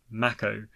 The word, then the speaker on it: Mako: in the remake is the pronunciation of Mako which as it turns out is pronounced Macko and I'm open to